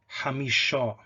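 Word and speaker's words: חמישה: So for example, the word for 5, even though in Proto-Semitic and in Proto-Hebrew it started with a cha sound, in Tiberian Hebrew it was pronounced hamisha.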